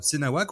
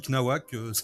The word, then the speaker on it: cnawak: sur YouTube, hein, donc sur la chaîne Senawak, ou qu'on peut prononcer aussi Knawak, ça dépend, ou Sinawak aussi, c'est une bonne, ça dépend des goûts en fait, hein, mais bon, Senawak de base, et puis bah c'est